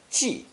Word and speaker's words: 寄: This character is pronounced fourth tone, ji, ji.